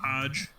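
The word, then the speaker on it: Hoge: say his name yes Hodge and hodgepodge and uh so it's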